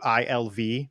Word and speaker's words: Iggwilv: Her actual name I can't pronounce. It's like Igwilv. It's Iggwilv, but everyone calls her Tasha because it's so much easier.